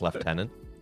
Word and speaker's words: lieutenant: And then you get things like lieutenant, where like it's spelled one way but is pronounced another, like lieutenant.